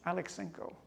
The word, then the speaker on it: Aleksenko: Alexenko.